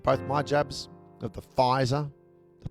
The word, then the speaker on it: Pfizer: I've had both my jabs of the Pfizer. The P is silent. The P is very silent.